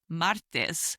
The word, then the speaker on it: martes: Next we have Tuesday which is martes.